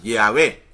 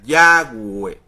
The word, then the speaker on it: Yahweh: Por eso los católicos hoy día tienen la pronunciación del nombre sagrado en fonética española, Yahvé, pero la real pronunciación es en fonética hebrea, Yahweh.